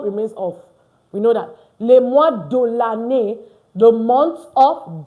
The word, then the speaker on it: les mois: And of course, the S, not pronounced. Don't pronounce the S.